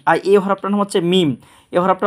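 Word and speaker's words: ميم: লাম লাম লাম আর এই হরফটার নাম হচ্ছে মিম এই হরফটা উচ্চারণ করব আমরা এই যে বা যে জায়গা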